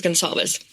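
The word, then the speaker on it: Gonçalves: Oh So I heard them pronounce their own last name. It's Gonzaleves.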